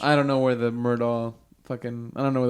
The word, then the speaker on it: Murdaugh: It's spelled weird too. It's like Murdo or something Yeah, like that. it's Murdaugh.